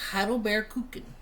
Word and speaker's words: Heidelbeerkuchen: doing a blueberry cheesecake and it is called hle bear Cookin is how you pronounce it um and I am doing a